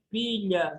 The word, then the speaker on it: pilha: cómo se dice las pilas, la batería? Bateria. Ah, ok. Pilha também. Pilha, não pila, pilha.